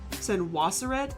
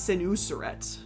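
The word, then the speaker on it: Senusret: So, so seneret senaseret is sort of how it is said more in Greek and Roman, but it's senuseret is how you say it.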